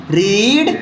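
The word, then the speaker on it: read: भी होगा है ना रीड रेड रेड ध्यान देना स्पेलिंग सेम रहेगा लेकिन यहां रेड बोलेंगे सेकंड और थर्ड फॉर्म में यह रूल है आगे आते हैं ठीक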